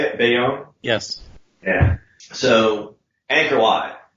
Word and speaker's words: Bayon: Bayonne?